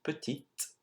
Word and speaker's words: petite: Now you would have noticed that je suis petit and je suis petite, even though you added an E at the end of petite, the pronunciation changes quite a lot.